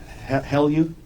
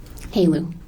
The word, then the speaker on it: HALEU: Have you ever heard of the word HELU? How do you say HELEU? HALEU.